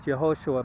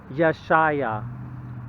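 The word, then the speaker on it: Yeshayah: say the name in hebrew is jehosha but that's actually not correct in fact the name is yashaya yeshaya yashaya and i'm not sure where the emphasis is on in the name i'm just pronouncing it the way i see it it's yashaya and i'll show you here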